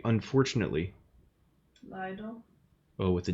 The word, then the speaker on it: Leider: Leider.